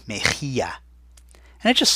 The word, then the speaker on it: mejilla: Mejilla has that rough H sound, so there's that J, M-E-J, and then the double L sound that sounds like a Y, mejilla.